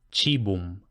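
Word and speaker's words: cibum: diptongos a oe que como hemos dicho que se leen e, entonces se leen como ch. Che, chi che, por ejemplo, chibum.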